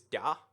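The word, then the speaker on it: да: So yes is da, like da. No, wait, it's like it's not even a D though. It's like the Russian D sounding thing.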